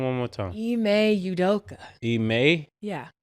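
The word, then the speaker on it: Ime Udoka: how you say his name one more time e may udoka eay yeah eay udoka yeah eay udoka it sound like homework what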